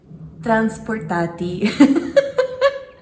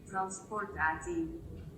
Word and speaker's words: transportatie: the day, and that is going to be transportatie. I feel like I have to say it like Google says it. Transportatie. Transportatie.